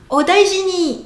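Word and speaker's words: お大事に: Odaiji ni, odaiji ni. Daiji, daiji, 3 syllabes.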